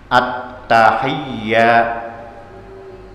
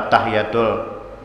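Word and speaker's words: التحيات: Haknya jangan dimatii, jangan at-tahiyatul, jangan at-tahiyatul, kada boleh. Kalau basilah batal. Haknya dihidupi baris di bawah, tasdidnya sabdunya kaya. At-tahiyya, jangan at-tahiyatul. Ini pertemuan puncak antara Rasulullah dan Allah.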